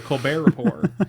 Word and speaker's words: Colbert Report: Wednesday was a show called the Lepore Report, which was a play off the Colbert Report with a silent T.